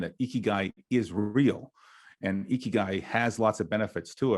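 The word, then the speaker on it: 生きがい: So first tip was to be learn how to say it, because in Japanese, the letter I actually sounds out as E. So that's why it's Ikigai.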